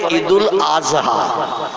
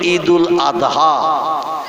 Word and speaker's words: ঈদুল আদহা: ঠিক তদ্রূপ ঈদুল আদহা এ শব্দটা হলো শেষে দোয়া উচ্চারণ করতে হয়, কিন্তু ওরা বলে ঈদুল আজহা। কি বলে? মানে জয় অক্ষর উচ্চারণের মতো আওয়াজ করে বলে। আমরা বলি ঈদুল আদহা, কোরবানির ঈদ।